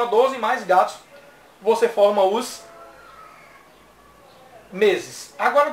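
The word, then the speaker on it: 月: E que no mês, né, para formar o mês, você vai ler não Getsu, mas Gatsu. É só colocar o número de 1 a 12 mais Gatsu.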